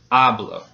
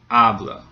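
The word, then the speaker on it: hablo: syllable gets stressed now it ends in a vowel so the second to last syllable gets stressed which in this case is the first syllable ablo so do you hear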